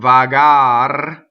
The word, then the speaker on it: vagar: So the infinitive is vagare. The E gets cut off. Vagar. The R is rolled because it is final. And the next consonant, the next word starts with a consonant.